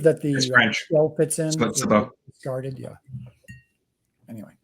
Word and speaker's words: sabot: Sabo. Discarded. Yeah. Anyway. Said Sabo or Sabo? Sabo. Sabo. It's the correct pronunciation of the word is Sabo, but the U.S. military pronounces it as Sabo.